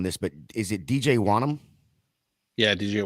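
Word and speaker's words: Wonnum: Nate, you correct the spelling on or my pronunciation on this, but is it DJ Wanham? Yeah, DJ Wanham.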